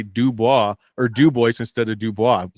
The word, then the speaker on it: Dubois: So we have a DuBois, Wyoming, and we get teased because it's Dubois. French. It's actually Dubois, yeah.